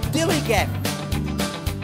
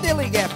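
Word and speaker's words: DILLIGAF: relate to their attitude too in a word Dilly Gap that's spelled D i l l i g a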